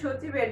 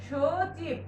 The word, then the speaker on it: সচিব: উচ্চারণের ক্ষেত্রে কিন্তু সচিবের দন্ত্য-সতে আসবে না, তখন দেখো উচ্চারণের সময় আসে সচিব, তালব্য-স সচিব।